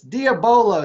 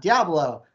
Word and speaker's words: diabolo: me and says that it's diabolo steve it's not diablo no matter where they